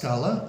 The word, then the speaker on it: Tlaxcala: a but it's pronounced clala like with a c and that is in the state of clala as well uh and